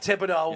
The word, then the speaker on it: Thibodeaux: I can't pronounce his name. Kayvon Thibodeaux. Thibodeaux, yeah.